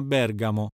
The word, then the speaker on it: Bergamo: telefonico accademico logico vengono anche accentati sulla terzultima sillaba inoltre vale la pena ricordare che quando andiamo in italia vogliamo fino a bergamo chi vuole vedere la sicilia va a trapani